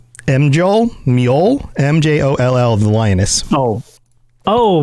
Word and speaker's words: Mjoll: They have listed, and again, pronunciations, Mjoll, Mjoll, the Lioness. Oh, Meol the Lioness.